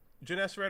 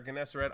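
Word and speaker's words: Gennesaret: is it Jan yeah I would go with janess red or ganess red either is acceptable I think um do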